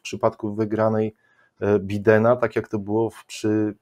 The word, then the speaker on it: Biden: Ja już słyszę od wielu osób, które mówią Biden. Dlaczego Biden, a nie Biden? Bo jeżeli Biden, to i Trump.